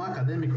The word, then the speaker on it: acadêmico: Então, vocês podem ver que acadêmico, ela tem o acento, né? Ela tem a antepenúltima sílaba como sílaba tônica, né? Porque é aqui onde você faz a força, né? Para acentuar essa palavra.